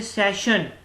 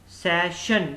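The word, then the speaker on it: session: ऐसे सेशन, सेशन double S आ रहा है, डबल S के बाद ION आ रहा है तो इसको हम क्या कहेंगे, श कहेंगे, ठीक है।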